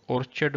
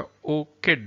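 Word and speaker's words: orchid: اوکڈ اصل میں لوگ اس کو اورچڈ بولتے ہیں لیکن صحیح پرونانسیشن اس کا اوکڈ ہے.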